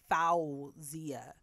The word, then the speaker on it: Fawziyyah: forget how to spell it the real pronoun pronunciation is foul zia so remember the w f a w then